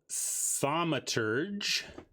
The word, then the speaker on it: Thaumaturge: So we have Protean Thaumaturge. That's pronounced right.